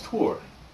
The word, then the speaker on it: Thor: play the part of thor i have water right here and actually she told me that the way to pronounce it is tour so uh i'm i'm changing